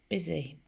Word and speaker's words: busy: The B is the right sound. Busy. B, I. It sounds like the letter I, so we know that that is a tricky part. And this sounds like a Z, but is Z. And so the S is tricky, and so is the Y on the end.